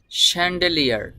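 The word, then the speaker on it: chandelier: Min child এটা হলো child child মানে চাইল্ড স্যান্ডেলিয়ার এই শব্দটির উচ্চারণ হবে স্যান্ডেলিয়ার স্যান্ডেলিয়ার মিন স্যান্ডেলিয়ার এটাকে বাংলা ভাষায় বলা হয় ঝাড়বাতি তো তো আপনি ঝাড়বাতি বলার দরকার নেই।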